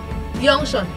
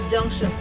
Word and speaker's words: junction: You okay, so most times they mock they'll say junction instead of junction. So the difference is that this J is the J is not in our consonant. That's why you see them, they pronounce it as Y, junction.